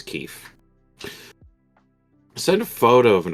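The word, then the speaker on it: kief: Is that a kife? Is that what Keef. that's pronounced? Keef? Packed with Keef, That's yeah. my second guess was Keef.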